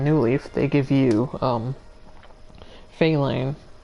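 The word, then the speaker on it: Felyne: They give you, Feline, or I guess Feline is now how it's officially pronounced, but I've always pronounced it Feline, as a villager.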